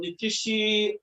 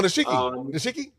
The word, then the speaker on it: Nishiki: That is what I'm working on Nikishi. I'm sorry, but I don't know if I pronounce her name very well. Oh, Nishiki. Yes.